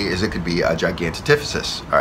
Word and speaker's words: Gigantopithecus: So one theory is it could be a Gigantopithecus, all right, or I believe that's how you